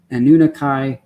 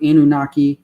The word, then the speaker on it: Anunnaki: and olympians and and anunnaki or anunnaki depending on how you want to pronounce it um i'm not the expert here that i read it first as anunnakai so sounds go it kind of has like a lord of the rings sound to it when you pronounce it that way and maybe that's why